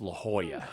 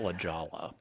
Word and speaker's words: La Jolla: for anyone who's wondering it's La Jolla not La Jolla it looks like La Jolla eight eight eight three